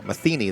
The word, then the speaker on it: Mathena: 185 and a freshman Nathan mathena uh maeni they tell me that's how they pronounce that a freshman 65240 they'll